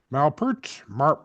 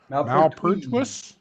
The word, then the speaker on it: Malpertuis: Yeah, they pronounce it two different ways in the trailer. Oh, they do? Yeah, one of them is the Malpertuis is the French way, and Malpertuis is the German going on there.